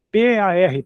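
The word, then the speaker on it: פַּר: Outra vez o R re p a r par. É igual a gente tem a palavra par em português, mas aí o som é esse par, mas eh o significado é outro.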